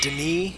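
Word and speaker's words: D'ni: Dunny, incidentally, is spelled D''Ni, and I don't know if it's just the pronunciation that was later retconned to Denis, or if they were actually spelling it Dunny when this first game was made.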